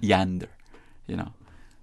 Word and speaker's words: yonder: the word in poetry, I have heard the aw sound of the first syllable produced more like an ah rendering, as in the line, when the roll is called up yonder, I'll be there. I've heard Caymanians say that, yonder, whereas I might tend